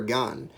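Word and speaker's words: 岩: kenji calls daita oiwa the iwa in oiwa means rock which can be pronounced in japanese as iwa or gan kenji used han instead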